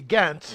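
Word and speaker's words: Ghent: since you know well do you pronounce it gent or jent jent see I know the locals do technically it's supposed to be gent yeah because they weren't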